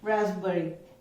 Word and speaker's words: raspberry: ये एक फ्रूट है और इसको हम प्रोनाउंस करते हैं रास्पबेरी. पी साइलेंट है, पी को नहीं बोलेंगे, रास्पबेरी, रास्पबेरी. ऐसे समझ लो RAZ है, सपोज यहाँ पे RASP नहीं है, उसकी जगह RAZ है, we pronounce it एज रास्पबेरी.